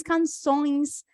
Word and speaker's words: canções: E como é a pronúncia? Essa pronúncia é ons, ons, ons, como se a gente estivesse numa festa. Ons. Limões, canções, sempre vai ajudar.